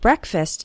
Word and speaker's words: breakfast: while eating breakfast and the first syllable of breakfast is pronounced with an E sound it's not like the word break it's like Breck breakfast or listen to